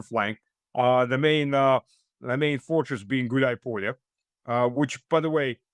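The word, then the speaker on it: Гуляйполе: The main fortress being Gulai Polye, which, by the way, it's two words combined to one, Gulai and Polye. Everybody keeps pronouncing it, and for some reason, Gulai Polye. Gulai Polye, which means tumbleweed in English, if you translate that.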